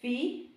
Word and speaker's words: phi: This is phi. Like in English, well, we spell PHI, but it sounds like an F. like pharmacy. Pharmacy, you spell PH, but sounds phi, like an F. Phi.